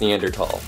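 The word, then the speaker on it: Neanderthal: at is neander TS and yes it's actually pronounced neander tal I know it's weird but it makes you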